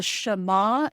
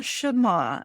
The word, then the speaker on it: Shema: and how he had a morning ritual through the is it the Shema prayer? Is that how you say it? It is the Shema, and I just learned it, Diane, because I recorded the audiobook and we looked it up.